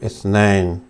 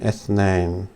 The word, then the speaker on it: اثنين: This could actually be called, also called اثنين. Oh, forgive me. Or even اثنين.